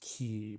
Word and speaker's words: quay: sort of like a it's the word spelled like a Quay like quu a y which pronounced key but so there's going